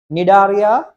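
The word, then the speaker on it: Cnidaria: right then for invertebrates n c is silent nidaria Anala mosa Aroda okay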